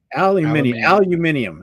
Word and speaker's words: aluminium: Did you hear how they pronounce aluminum in UK? Aluminium. Aluminium. Yep. Different.